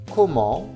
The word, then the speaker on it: comment: Le T ne se prononce pas. Comment?